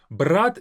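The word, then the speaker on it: брат: Brat is brother. Brat. Now, brat is different from brat. Brat is to take, brat is brother. The difference is in the very last t.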